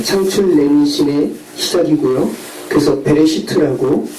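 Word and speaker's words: בראשית: 그래서 베레시트라고 발음하는 그 책입니다.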